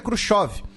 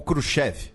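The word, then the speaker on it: Khrushchev: Ã, e quem assume o cargo é o Nikita Kuchov ou Kruchev, dependendo da pronúncia que você escolha. Nesse caso, as duas são aceitas, tá?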